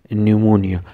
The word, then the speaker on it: pneumonia: No pa de ki da p che de silent te o da ba munga pa de se pronounce kau che pneumonia.